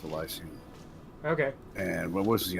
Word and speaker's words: Elysium: Pronounced Elysium.